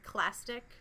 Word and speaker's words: clastic: The first type, they're called clastic, kind of rhymes with plastic, and they're formed from rock fragments that were weathered and eroded away by wind, rivers, and waves.